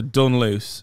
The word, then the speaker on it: Dunluce: Dunluce. How do you say it? So Dunluce.